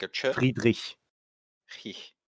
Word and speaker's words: Friedrich: Like, you pronounce it like Frederick? Mhm. So but- Friedrich. Friedrich. Yeah, Yeah. got it. Which part of that am I not getting right when I say Friedrich? Like the CH at the It's at a the harder end.